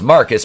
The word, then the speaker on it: Marquis: we we start with marquise pronounced marcus because he's [ __